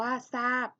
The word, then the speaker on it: ทราบ: ซาย อ่าน ว่า ทราย ซับ อ่าน ว่า ทรัพย์ ทราบ อ่าน ว่า ทราบ เด็ก ๆ อย่า ลืม นะ คะ ขอ ทหาร